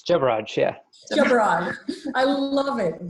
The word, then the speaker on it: Jebaraj: Jebaraj, did I pronounce that right? It's Jebaraj, yeah.